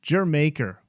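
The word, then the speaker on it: D'yer Mak'er: y e r m a k e r pronounced jer maker where did this come from yeah er again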